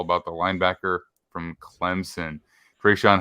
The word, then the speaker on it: Tre'Shon: You can find me on Twitter at @TheMaxDean, and I am here with Tre'Shon at Trey3Sean. That's how you would phonetically say it say it out on Twitter.